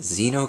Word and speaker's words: Xeno: game this game is called the Zeno crisis I believe that's how it's pronounced like that just makes sense um by bitmap Bureau